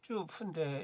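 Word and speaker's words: 祖父: 중국어는 이제 조부, 쭈푸인데 이게 통과가 안 됐어요. 이거 통과가 안 되고 연달아 통과가 안 됐어요. 쭈푸는 이게 좀 문제가 있구나. 기계가 발음을 인식하는데 문제가 있거나. 주부, 가정주부 할 때 주부로만 인식을 해요.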